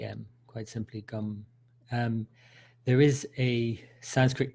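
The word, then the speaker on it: गं: so and the seed mantra for Ganesh is gum so just G am quite simply gum there is a Sanskrit pronunciation rule where when you have a gum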